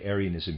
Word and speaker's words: Arianism: the other readers aside arianism here i'm going to pronounce it that way is spelled though a-r-i-a-n-i-s-m uh referring to aries the end of readers